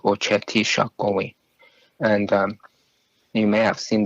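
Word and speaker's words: Oceti Sakowin: They recognize each other as Ocheti Shakowi, which is the 7 council fires, and that's how it's pronounced, Ocheti Shakowi.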